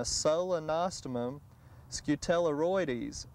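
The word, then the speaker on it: Solenostemon scutellarioides: share that with the garden center and it's pronounced a solenostomum scutelleroides and that is again the most up-to-date genus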